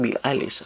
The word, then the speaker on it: Billie Eilish: Juara Indonesian Idol tahun lalu berduet dengan Rimar menyanyikan lagu Billie Eilish, bacanya Billie Eilish, oke, yang judulnya When the Party's Over.